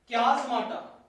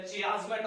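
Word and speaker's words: chiasmata: क्याज़माटा या क्याज़मेटा या चियाज़मेटा, अलग अलग प्रोनाउंसिएशन है इसके।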